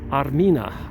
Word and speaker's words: Armina: Armenia used to be pronounced or said Armina. Armina is the ancient name for Armenia, and that's why many Armenian women are named at birth Armenia.